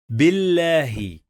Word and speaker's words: بالله: When we have shadda, we pronounce the letter two times. Bil. And we have fatha. Bil. Billahi.